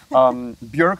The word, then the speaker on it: Björk: Björk, whose name rhymes with work, not fork.